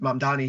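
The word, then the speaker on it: Mamdani: like what's happening in the city with with Mam Dani here in New York, pronounced it right that time, Victor.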